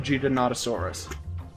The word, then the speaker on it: Giganotosaurus: Like I know in art it's called the Giga, but if I'm not mistaken, it is scientifically pronounced Giganotosaurus.